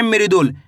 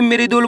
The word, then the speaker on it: मृदुल: मृदुल। मृदुल के अंदर पहले अक्षर कौन सा आएगा? मरी। जैसे ही मृदुल बोलेंगे मरी। मरी कब होएगा?